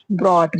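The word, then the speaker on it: brought: ब्रॉट। ब्रॉट में भी you silent हो गया।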